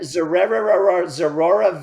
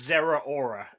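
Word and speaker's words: Zeraora: And I think it's Zera Aura, I think is how you're supposed to pronounce that one.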